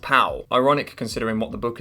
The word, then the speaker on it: Powell: Written by William Powell, pronounced pal.